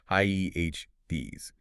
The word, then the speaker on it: Hades: The gates of hell, or in the Greek, Hades. Yes, the gates of Hades, H-A-A-D-S, pronounced H-Ds. It is crucial to remember how gates function.